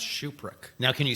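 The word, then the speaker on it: Tschupruk: sure how to pronounce shuprick now can you spell it no h-u oh I've done that um is there a like surprise X's there no that's the t is silent it's actually t-s-c-h-u-p-r-u-k wow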